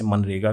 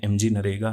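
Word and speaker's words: MGNREGA: कई लोग इसे मनरेगा भी प्रोनाउंस करते हैं। लेकिन एक्चुअली में यह एमजी नरेगा है।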